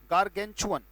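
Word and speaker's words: gargantuan: ये, GAR, गार्गेन, GANTUAN, उच्चारण है बेटा इसका गार्गेंचुअन, उच्चारण मैं आपके लिए लिख देता हूं, गार्गेंचुअन, huge in size, big in size, that's called गार्गेंचुअन।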